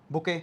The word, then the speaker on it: bouquet: Next word, बुके, हमने सबने सुना है, स्पेलिंग याद कर लेना, BOUQUET, बुके क्या होता है, फ्लावर अरेंजमेंट, है ना।